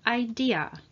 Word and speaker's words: idea: Let's start with the word idea. Idea. It is a great idea. Do you have any ideas? We need an original idea. So as you can hear, we pronounce the a at the end, idea.